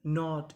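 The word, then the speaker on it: not: के एन ओ टी नॉट।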